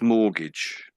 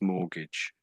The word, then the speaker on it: mortgage: So that's mortgage. That's mortgage. Although it looks like gag maybe, mort gag, but that's not really how it's said.